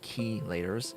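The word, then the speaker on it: chelators: I need to make key leaders and yes this is actually called key laters it is called it is a process of chelation is the proper pronunciation place thank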